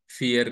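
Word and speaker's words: vier: चार को जर्मन में फियर कहा जाता है दोस्तों जो प का प्रोनंसिएशन य पर एफ होता है दोस्तों ध्यान रखें तो फोर या चार को जर्मन में फियर कहते हैं दोस्तों र को जर्मन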